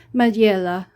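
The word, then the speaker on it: Majella: Ruby and pearl EXO it's a madilla I think that's how you pronounce it m-a-j-e-l-l-a he's Italian he's a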